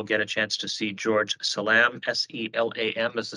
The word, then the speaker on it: George Selam: Members of the public, we're going to swear in this next witness, George Selam, and Shauna Volkers, the attorney for the Yakima Nation, will give us a brief overview of what he'll be testifying to.